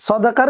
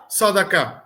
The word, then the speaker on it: সদাকা: প্রশ্ন এখানে আপনি যে সদাকার বিষয়টা একটু ইয়া করলে যেহেতু যাকাতের সাথে কথা আসছিলাম যে আমরা অনেকে যাকাত আর সদাকা হ্যাঁ সদকা বলে থাকি বা শুদ্ধ উচ্চারণটা হচ্ছে সদাকা সদাকা সদাকা এইটা আমরা কিন্তু গুলিয়ে